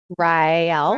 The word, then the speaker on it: Raël: class we're going to learn how to pronounce two words today right Riel go ahead and say it with me after your Red Bull Riel Riel Riel okay that